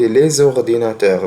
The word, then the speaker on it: les ordinateurs: نطقت الاس دي زد هنا ليه؟ لأن الكلمة بادئة بحرف متحرك، والقاعدة بتقول إن حرف الاس لو جه في نهاية كلمة والكلمة اللي بعديها بادئة بحرف فويل بننطق الاس دي زد، زي les ordinateurs.